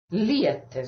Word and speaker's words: liete: Liete. So I think this is this kind of clear liete, liete. So how it goes up and comes down again.